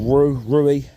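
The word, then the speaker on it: Rhiw: I'm at a place called Rui, R-I-H-W or R-H-I-W it's spelt.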